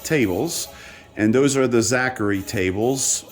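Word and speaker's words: Zaccaria: and those are the zachary tables also sometimes pronounced zakaria whatever you want to pronounce it like i'm always going to refer to it as zachary those tables run off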